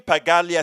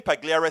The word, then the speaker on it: Pagliara: mean let me tell you uh brother tim pagalia said that i said it says name wrong tim pagliara tim pagliere says it perfectly right the lie was that